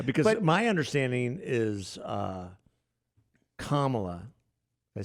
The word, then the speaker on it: Kamala: it again yeah because my understanding is uh kamla did I say it right yes you did